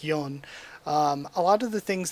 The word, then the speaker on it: Yeon: how i always say yeon but it really should more be pronounced like yon a lot of the